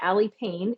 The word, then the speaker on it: Aly Pain: If you are a social media fan, you can find me on Instagram and TikTok at Aly Pain. It's ALYPAIN. Yes, it is spelled like ouch.